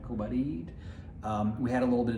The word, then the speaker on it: Kobarid: not Kobarid as I was calling it, Kobarid.